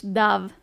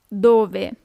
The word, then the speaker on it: dove: Where, dove. Don't be tempted to pronounce it as in English, dove. It's dove.